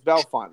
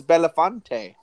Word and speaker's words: Belafonte: The one fun one that we have near me is Belafonte. And it's like, no, it's Belfont. No, it's Belafonte. Look at it. Like, it's right there.